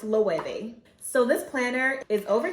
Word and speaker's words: Loewe: to an event and compliment someone on their low bag. Come to find out, it's actually pronounced loewe.